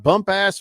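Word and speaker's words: Bumpass: dude says it's pronounced bump ass Virginia, not bump ass like Jim Bumpus.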